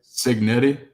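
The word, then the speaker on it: Cignetti: How do you say his last name? Signetti. Skignetti. S. Ci. Signetti.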